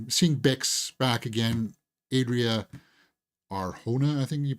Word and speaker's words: Arjona: But anyway, the big seeing Bix back again, Adria Arjona, I think you pronounce it. It's with a J, but I pronounced it Arjona throughout the first season.